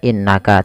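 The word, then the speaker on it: إِنَّكَ: berhenti Cukup dua kemudian innaka sama tidak hanya cukup Dibaca innaka tapi perlu ditahan suara gunahnya dua harakat innaka anulim Anta Ikfa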